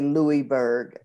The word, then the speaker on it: Lewisburg: But it's spelled L-E-W-I-S-B-U-R-G. Well, okay. When I speak into my phone, I have to say Louisburg. Otherwise, it will spell it L-E-W. But if I say Louis, then it will spell it L-O-U.